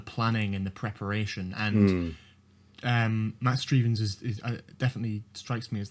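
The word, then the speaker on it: Matt Strevens: Yeah, Matt Strievens, yeah.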